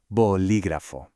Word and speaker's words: bolígrafo: All right, let's put all the pieces of the puzzle together, making sure to put that stress on the second syllable, and we get bolígrafo.